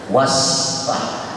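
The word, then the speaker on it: واصفح: Lihat sin itu was, was. Nah, berubah maknanya. Sifah itu artinya pelacur atau zina. Bagaimana kita bisa mengartikan ayat Allah, maafkan dia dan zinahin dia? La haula. Gara-gara tak fasih bacanya. Wasfah. Seharusnya wasfah.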